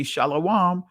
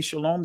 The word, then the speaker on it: shalom: or others that say shalawam if you if some of you guys say shalom that's fine but don't knock me and others that says why because ancient Hebrew every letter was treated as a syllable and ancient Hebrew there was no o sounds in ancient Hebrew and matter of fact